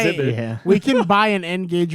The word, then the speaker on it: N-Gage: measure exactly it's uh it's like engage not yeah whatever no